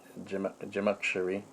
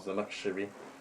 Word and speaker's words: Zamakhshari: You have also tafsir, barakallahu fikum, Jamakhshari, naam, and this tafsir Jamakhshari, the tafsir Zamakhshari, pardon me, I was pronouncing it wrong, Zamakhshari, and he likes to